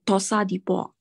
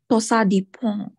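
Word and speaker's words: torsades de pointes: The irregular one is the Tosa de Port. The pronunciation is called Tosa de Port.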